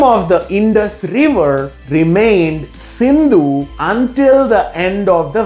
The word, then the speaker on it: Sindhu: that stretched into the Indus Valley. It was also called the great Indo-Greek kingdom. After Darius, Alexander the Great invaded India. It was Alexander who mispronounced Sindhu as Indu.